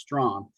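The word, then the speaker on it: Strachan: his name is michael strong it's it's spelled s-t-r-a-c-h-a-n but it's pronounced strong michael strong's a wide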